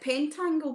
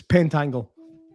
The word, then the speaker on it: pentangle: Is it pentangle, by the way? Am I saying that right? Pentacle. He knows now. Well done. No, is that right? Is that the right way to say it? It's Pentangle. Pentangle.